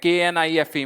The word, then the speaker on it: knife: और मैंने एक सबसे शुरुआत में एक वीडियो बनाई थी जब मैंने कहा था, अगर आप मुझसे पूछोगे KNIFE में के साइलेंट है तो इसको रखा क्यों